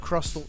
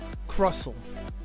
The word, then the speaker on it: Crustle: Crustle. The T silent. No, I won't silent T in this house. Crustle. He's crusty. I named this deck Crusty. It's a very loud T, Carver.